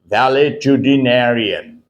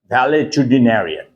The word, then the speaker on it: valetudinarian: Pronunciation is valetudinarian. Okay, pronounce this word once again with me. Valetudinarian. Valetudinarian.